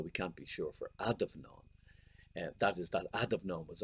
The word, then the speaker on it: Adomnán: But anyway, academics insist on using the older form with an O.